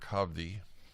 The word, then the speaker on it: Hovde: Republican candidate for US Senate from Wisconsin Eric HDI that I pronounced your your last name correctly sir you